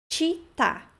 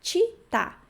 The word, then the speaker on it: città: Città, cidade, né? Città. Cuidem para não pronunciar città. Città é muito comum de pronunciar, mas o certo é città. Città. CI tem a pronúncia de ti, ok?